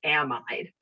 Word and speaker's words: amide: me so i pronounce amide so there's a lot of different pronunciation the pronunciations of uh an amide i say it to differentiate from amine okay uh some people